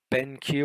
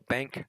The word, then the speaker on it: BenQ: I've been when I'm benq or bank depending on how you pronounce it what the eye